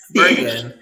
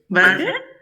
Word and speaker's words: bargain: Bargain. Now, we don't have that vocabulary here. Bargain? ¿No? No, bargain. No, bark, se pronuncia bargain.